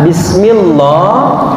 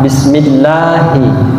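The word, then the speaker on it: بسم الله: tipis meniti bahasa bugisnya ketika membaca Bismillah maka sudah dianggap kesalahan besar Hai banget jadi tidak boleh dibaca Disney mohon yang betul adalah bismillah bismillah seperti itu kemudian bismillah high ada huruf H Kalau bahasa Umi nama bahasa logo Halo ada yang baca disinilah ih jadi bukan Hei tapi hahaha bismilahi bismilahi nah itu kesalahan-kesalahan yang biasa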